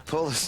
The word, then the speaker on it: polis: They're called the polis up here, yes. It's a Glasgow word, actually. It's the way they pronounce police over in Glasgow.